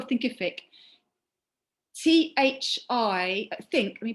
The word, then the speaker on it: Thinkific: you spell it um like it's terrific but think at the beginning um content help yes